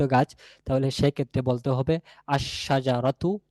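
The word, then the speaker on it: الشجرة: তাহলে সেক্ষেত্রে বলতে হবে আশশাজারতু আশশাজারতু আল না আলশাজারতু না আশশাজারাতু এখানে লামের উচ্চারণ আসবে না এই লামটাশিনের সাথে মিশে গিয়েশিনের উচ্চারণ হবে লামের এর কোন উচ্চারণ থাকবে না।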